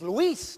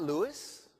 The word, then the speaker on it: Luis: Luis is Luis, not Louis, right?